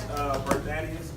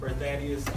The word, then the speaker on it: BerThaddaeus: My name is BerThaddaeus. That's how you pronounce my name. BerThaddaeus.